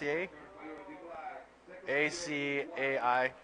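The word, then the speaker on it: açaí: for it is uh AI how do you pronounce it a a a a a i aai aai yes and I finally had some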